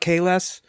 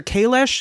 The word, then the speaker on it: Kahless: in the street doing some Klingon opera about Kahless.